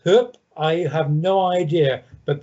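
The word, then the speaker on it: Höfn: on the map and it's spelt h o f n why that is then pronounced hoop i have no idea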